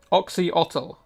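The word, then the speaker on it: Oxyotl: Oxhotl is how it's said.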